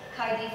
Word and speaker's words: Kaidie: Also, we know of Kaidie's clumsiness, having fallen off the treadmill and nearly off the Alps when trekking to meet her Facebook friend Heidi in Heidiland. Yes, Kaidie's name rhymes with Heidi, and yes, Heidiland does exist.